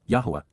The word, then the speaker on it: Yahowah: But instead, KY, at that time, AZ, simultaneously at that point, YAHOWAH, YAHOWAH, the proper pronunciation of the name of Eloah, God as